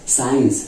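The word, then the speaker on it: science: यहां पे साइलेंट है साइंस हम लोग साइंस भी बोलते हैं ठीक है सेल्स नहीं बोलते हैं ना साइंस बोलते हैं ना तो यहां पे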